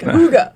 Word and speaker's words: Hygge: Yeah, so it's a Danish word. Hygge is pronounced Huga. I have to admit, I called it Hygge first, and then I'm like, Huga.